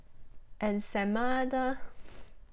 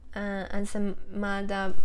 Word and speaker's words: ensaimada: It's called ensaimada. Hopefully I pronounced correctly.